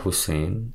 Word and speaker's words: Husain: Saya membacanya sebagai Husain, namun saya bertanya, apakah ini bisa juga dibaca Hasin? Karena hal itu juga memungkinkan. Saya mendapatkan pesan dari Rabwah terkait Tahzibut Tahzib bahwa kata tersebut adalah Husain yang merupakan bentuk lebih kecil.